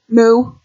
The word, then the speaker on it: mu: Back in the day, we had so much fun saying moo, not mu, not moo. Or that's pronounced P.